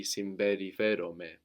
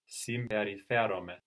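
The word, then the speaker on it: συμπεριφέρομαι: We combine M and P, just like in boro, I can. So we have simberi, but when we say this verb, it's going to sound more like a B, simberiferome.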